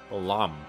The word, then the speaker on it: Belome: Take care to pronounce the O correctly. Belome.